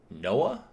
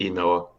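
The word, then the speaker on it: Ynoa: Is it Noah? Is that how you pronounce it? I think it's Inoa.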